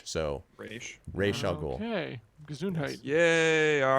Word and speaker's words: Ra's al Ghul: It's supposed to be Ra's al Ghul, and I thought it was race, but it's not race, it's Ra's. So Ra's al Ghul.